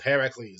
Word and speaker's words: Heracles: Apparently, I could have been calling him Hercules due to Hercules' legend with Hercules, and apparently it's pronounced Heracles, not Hercules.